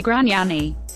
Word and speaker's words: Gragnani: It was unclear what issue they had with Gragnani, of Isle-Bizard, Q, who says his name the Latin way, not pronouncing the second G.